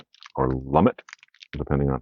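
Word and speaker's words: Lumet: right first is a a film by Sydney lumay or lummit depending on how you pronounce it all right it's running on empty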